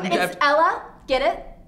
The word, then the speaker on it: Ella: My name's Ella. It's pronounced like it's spelled. E-L-L-A. Well, unless you're Spanish.